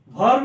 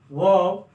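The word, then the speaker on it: verb: हैं adjective adjective व वर्ब नहीं बोलेंगे आर साइलेंट हो जाएगा वब प्रपोजिशन प्रीपोजिशन नहीं बोलते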